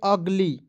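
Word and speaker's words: ugly: वाई तो क्या पढ़ेंगे अगली यूजी एल वाई तो क्या पढ़ेंगे दोस्तों अगली कैसे यू का उच्चारण अ के रूप में करेंगे दोस्तों जी का ग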